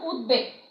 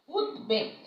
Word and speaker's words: উদ্বেগ: এরপরে দেখো উদ্বেগ, উদ্বেগ, হ্যাঁ, এই বয়ের উচ্চারণ অবিকৃত থাকবে, উদ্বেগ।